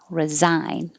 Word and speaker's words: resign: The same vowel I, but now it looks like an S, but it sounds like a Z. Resign.